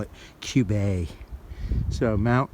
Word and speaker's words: Cube: our view of Mount Cube see ube that pronounced a cube this new hampshire's trying to get fancy on us and call it cube a so mount cube a we are climbing pretty cool I wish they'd